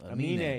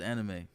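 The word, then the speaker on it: Aminé: So that's how you say his name. Amine. Yeah, the guy who did that Caroline. Yeah, that song. I always thought it was anime.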